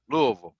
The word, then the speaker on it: Louisville: nut no it's it's l u Lou space v l Louisville that's how it's pronounced for sure you gotta say it with your mouth mouth closed Maxwell got it Lille that's it Maxwell's got